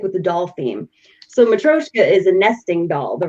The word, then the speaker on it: matryoshka: All right, so tell us a little about this, because I don't know if a lot of people know what a matryoshka is.